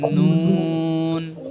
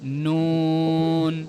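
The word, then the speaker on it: نون: তালুর সঙ্গে লাগে নুন জিহ্বার যে আগাটা আগাটা একদম সরাসরি উপরে লাগবে। সবাই বলি নুন দেখবেন জিবার আগাটা সরাসরি উপরে তালুতে লাগলে উচ্চারণটা শুদ্ধভাবে হবে। নুন নুন নুন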